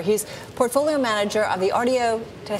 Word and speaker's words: Artio: is Greg hoer he's portfolio manager of the Rio did I say it right yes you did